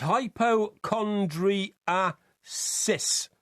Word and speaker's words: hypochondriasis: No, it's hypochondriasis.